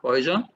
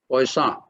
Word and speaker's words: Poisson: So in my class, nobody should call it as a Poisson. It is not Poisson. It is named after a French mathematician. So it should be pronounced as Poisson.